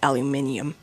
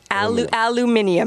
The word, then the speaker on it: aluminium: the prime minister says aluminium, but okay. Yes. Transnational repression. All right. How do you pronounce alum aluminium is perhaps he spent a little bit too long in the UK used the British pronunciation.